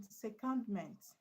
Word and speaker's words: secondment: stressed on the end then secondment secondment is stressed where Where first?